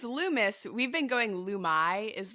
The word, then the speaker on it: Loomis: got the Lumes the Lumes how do I pronounce your guys' last name uh it's Lumis we've been going lumai is the plural the